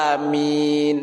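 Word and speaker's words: آمين: Kemudian min tanpa ditasdidkan mimnya. Baca biasa aja. Amin. Seperti itu. Jangan ditasdidkan.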